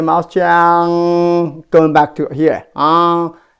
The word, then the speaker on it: He: He is not a her. H-E is actually my last name, the same pronunciation. He. You don't need to roll up your tongue. Just keep it flat. He is her, then you roll up your tongue, right? Like H-E-R. He, her, not her.